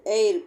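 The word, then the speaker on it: heir: examples అన్నమాట hour honest ఎయిర్ పదాల్లో H silent గా ఉంటది హవర్ అనో హానెస్ట్ అనం అన్నమాట అవర్ హానెస్ట్ ఎయిర్ అనే హెచ్ సైలెంట్ గా వాడతాం రెండో అక్షరం అయినా ఓ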